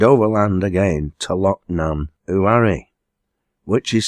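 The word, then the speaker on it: Uamh: Loch Eelt, and overland again to Loch Nan Uari, which is spelled U-A-M-H, and is Gaelic for cave.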